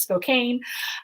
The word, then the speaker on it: Spokane: have heard of Spokane even Frasier miss mispronounces mispronounces it as Spokane um it is Spokane and uh it's it's